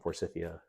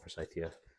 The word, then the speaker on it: forsythia: My mom calls them Forsythia. You call it Forsythia. They're all the same plant to me. It might just be a regional dialect thing.